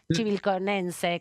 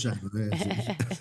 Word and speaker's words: chivilcoyano: Pero vos, como chivilconense, contame más así en términos... Chivilcoyano. ¿Cómo se dice? ¿Chivilcoyano? Chivilcoyano. Sí, algunos los cargan y dicen chivilcochino. Muy lindo, ese me gusta. Pero es chivilcoyano.